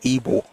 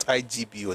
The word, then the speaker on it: Igbo: But we pronouncing it as Ebo because it's called even in the language it's Ebo but it is spelled Ibo but it's pronounced Ebo not IGBO.